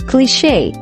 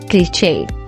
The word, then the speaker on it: cliche: This word is pronounced as cliche and not cliche.